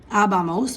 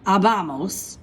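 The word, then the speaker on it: ábamos: So AR endings go aba, abas, aba, abamos with an accent over the A. Okay, don't pronounce this abamos. It's abamos, abais, aban.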